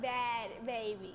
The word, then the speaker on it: Bhad Bhabie: You kind of hear the H in there, right? No, you don't. Bad baby.